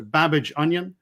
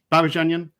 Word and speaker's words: Babadzhanian: So if you say the word Babbage, as in Charles Babbage, the computer pioneer, and then onion, as in the vegetable, quickly together. So Babajanyan, Babajanyan, Babajanyan.